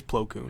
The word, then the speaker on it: Plo Koon: you pronounce it, but it's only one O in the... In the cartoon, they pronounce it Plo Koon. Okay, see that? Okay, yeah, so it is Plo Koon.